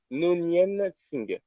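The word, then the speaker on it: Noonien Singh: Alors, son nom, je vais en chier pour le prononcer, c'est Nonien Singh.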